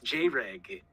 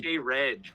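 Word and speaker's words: Jreg: No, it's J-Reg. Yeah, No, true. it's J-Reg, actually.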